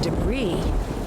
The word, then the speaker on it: debris: That's a weird piece of debris. Debris. It's pronounced debris.